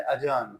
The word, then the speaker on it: adjourn: तो ADJ से जो भी लफ्ज़ शुरू होते हैं उनमें डी साइलेंट कर दिया जाता है। ये लफ्ज़ है अजर्न।